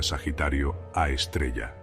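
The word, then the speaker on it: Sagitario A*: El agujero negro del centro de nuestra galaxia se llama Sagitario a Asterisque. Se pronuncia Sagitario a estrella.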